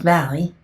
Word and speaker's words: Valle: This is pronounced Valley.